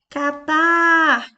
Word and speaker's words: Catar: Em seguida, nós temos a palavra Catar. Catar. A última sílaba é a mais forte. Portanto, ela é uma palavra oxítona.